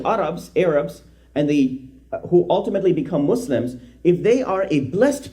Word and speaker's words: Muslim: A Muslim, correct pronunciation is Muslim, not Muslim, is one who has surrendered and found inner meaning in that surrender.